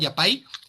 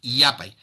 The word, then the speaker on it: yapay: No me digan yappay, es yapay. Porque otro dato, el quechua es 99% grave o llano, es decir, casi todas sus palabras terminan con la el acento en la penúltima sílaba.